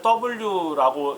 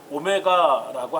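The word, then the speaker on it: omega: 이제 어떤 이제 학생들은 이 오메가를 W라고 읽는 분들이 있어요. W 아니에요. 이거 그리스입니다. 그리스어. 그래서 그리스어에서 우리 이것을 오메가라고 하는데, 뭐 다른 이 책들을 보게 되면 W로 표시된 것도 있어요.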